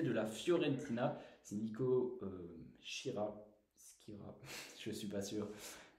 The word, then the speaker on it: Schira: Ça dépend de son origine. Mais... Il est italien, Bah, Skira, je pense. donc voilà. Encore une fois, la prononciation de nom c'est pas notre fort forcément, mais Je vous dis Skira.